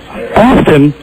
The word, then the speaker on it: often: Often? Yeah, I mean, do you call frequently, Ass? Yes. Now listen, hold on. Do you pronounce it often or often, Ass? Often. You pronounce the T?